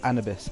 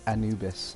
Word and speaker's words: Anubis: with me and then he's like it's annabes and then so the second teacher then put it on the screen on like he put in how to pronounce and cannabis and basically actually said anubis and then i felt